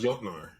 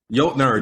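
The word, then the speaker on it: Jötnar: Also, I think it's pronounced Jotnar.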